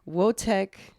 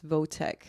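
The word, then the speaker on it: Wojtek: Egypt to Italy, Wotek, I keep saying Wotek, but it's Votek. It's spelled both ways. Maybe it's pronounced Wotek. It's definitely Vo, but it's like one of those W's that you pronounce like a V.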